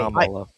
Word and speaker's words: Kamala: Kamala. Like a Comma- comma that you use. La.